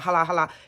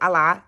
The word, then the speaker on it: Allah: about respect for Allah she's not even pronouncing it she said ha ha which they don't play it's Allah it's respect for Allah